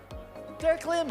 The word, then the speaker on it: Terraclim: Tara Klim or Tara Klim? Tara Climb? Tara Climb. Tara Klim. I said it right on the first time.